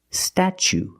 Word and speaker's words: statue: so pronunciation statue statue for the first vow we use the short a like black cat sta then we use the CH sound stat statue for the second syllable we use a long o like Boot and moon ooh together St statue this is the Statue